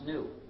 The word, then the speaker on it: gnu: the reason is because according to the dictionary the g is silent and it's pronounced new so anytime you were